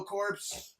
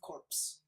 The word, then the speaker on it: Corps: Yeah, the Nova Corps, so cool. I say Corps. Corps? Because it's Marine Corps, you know? It's the Green Lantern Corps. It's not corpse.